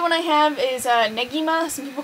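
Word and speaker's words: Negima: haven't yet another one I have is a neima some people call it Nima but if you go by the like Japanese like pronunciation it would be ngima um and it's okay I'm not crazy about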